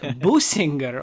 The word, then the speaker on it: Bussinger: Yeah, everybody gets it wrong. So you say it like Bussinger.